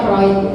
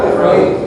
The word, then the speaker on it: Freud: Jadi Freud itu Bacanya Freud. Jadi ini tulisannya Freud tapi bacanya Freud.